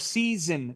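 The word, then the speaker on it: seisin: The covenant of season clause, and yes, that's how you pronounce it, like the 4 seasons.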